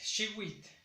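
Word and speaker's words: xihuitl: Y en el caso de año es shiwit. Shiwit igual en en la primera sílaba.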